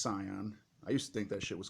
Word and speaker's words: Scion: that's how you pronounce it the other ones pronounce Sion I used to think that was called ski I'm sorry I didn't know the sigil was